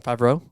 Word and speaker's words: Favreau: That's what if I'm the producers or John Favreau.